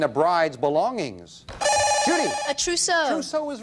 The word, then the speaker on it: trousseau: A trousseau. Trousseau is right. Yes, a trousseau. Nicely pronounced.